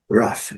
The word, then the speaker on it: rough: No mesmo ritmo, GH com som de F. Rough.